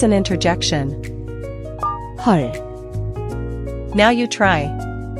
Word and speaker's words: 헐: Watch your pronunciation, the vowel is a deep ah sound, not o or a. Think of the o in love but deeper, or ah in raw.